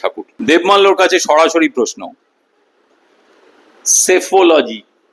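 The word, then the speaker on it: psephology: দেবমাল্যর কাছে সরাসরি প্রশ্ন, সেফোলজি কি? স্পেলিংটা লিখতে পারো, PACPHOLOGY, মানে প্রথম পিটার সাইলেন্ট।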